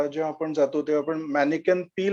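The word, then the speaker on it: Manneken Pis: किंवा ब्रसल्समध्ये जेव्हा आपण जातो तेव्हा आपण मॅनिकन पी ला व्हिजिट करतो. आता अमेरिकन्स मुळे ते मॅनिकन पीस झालेलं आहे.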